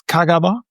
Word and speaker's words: Kagawa: Well yeah it's it's Kagaba I think that's how you pronounce it in Kagawa. Yeah we say Kagaba.